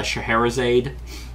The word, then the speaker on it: Scheherazade: Yeah, Scheherazade, I think is how you pronounce it.